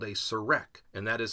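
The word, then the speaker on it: serekh: Now, the Horus name was written on something called a serek, and that is spelled S-E-R-E-K-H.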